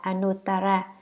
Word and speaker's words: Anuttara: Chữ Hà Nậu Đà La, nguyên âm Ấn Độ, đọc là Anuttara, dịch ra chữ Hán là vô thượng, nghĩa là trên hết.